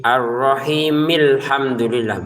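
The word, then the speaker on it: الرَّحِيمِ الْحَمْدُ لِلَّهِ: Kalau Quran Indonesia kita salah nanti kalau bacanya bismillah bismillahirrahmanirrahimi. Kemudian langsung gabung ke alhamdulillah. Padahal kalau digabungkan itu harakat alifnya tidak ada harusnya. Jadi arrahimilhamdulillah begitu ya.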